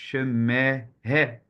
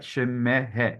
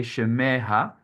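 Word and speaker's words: שמה: You double the previous syllable. So I see people say Shemeha, because they think, oh, I have to put an A, but no, you have to just double the vowel.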